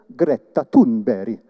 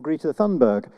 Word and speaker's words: Greta Thunberg: The thing that makes me hopeful is, to pronounce her name correctly, Greta Thunberg, or Greta Thunberg, because she's showing us that we have reason to hope.